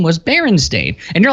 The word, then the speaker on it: Berenstain: as well with everyone else however it's not Berenstein it's Berenstain yeah at least here it is now interesting